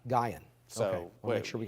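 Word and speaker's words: Guion: per hour barry i just looked up the pronunciation of g-u-i-o-n and i i it's from a native arkansan he says it's gaian gaian so we'll make sure we got in any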